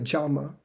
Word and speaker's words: Yama: now but when um in Sanskrit when a y is in the beginning of a of a sentence or a word is pronounced like a j so yoga is really